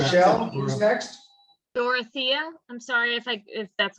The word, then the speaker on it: Dorothea: Dorothea, I'm sorry if that's not the right way to pronounce it.